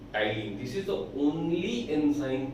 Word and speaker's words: ptyalin: Here the P T is silent, and that's why the name is Tyline. Tyline is also known as salivary amylase.